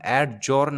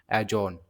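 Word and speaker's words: adjourn: Option number B क्या है, इसको बोलते हैं हम एडजोर्न, नहीं एजोन, इसको बोलते हैं एजोन, डी साइलेंट रहता है इसमें।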